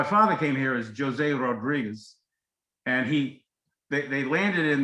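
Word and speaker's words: Rodrigues: rodriguez the portuguese pronounced rodriguez r rodriguez d r i g u e s wherever you see a z in spanish gomez is gomes in portuguese sanchez would be science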